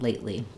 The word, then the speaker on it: lately: know about pronouncing lately we use an unreleased T um first syllable stress um and then we go directly to that l sound lately what have you been